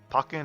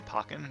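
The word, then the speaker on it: Pokkén: are fighting is it the pokey and tournament or the parking tournament um but i just i don't i i guess pokken is how i'm going to pronounce it all right let's change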